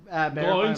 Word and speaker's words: McGloin: McGloin spelled like groin, but with an L.